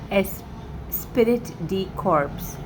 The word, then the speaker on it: esprit de corps: Esprit de corps. This seems like a French word, and I'll spell it for you.